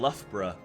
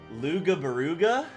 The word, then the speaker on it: Loughborough: yeah it's like it's like the the location Loughborough when you actually spell that word it does not say Loughborough it says oh God there's a funny quote of somebody saying love bro and they say luga baruga instead of Loughborough which Loughborough by the